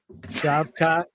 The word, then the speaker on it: Shavkat: Mike uh can you pronounce it can you pronounce it shavat say it with me say it with me slow shavkat Rockman hang on hang on hang on we'll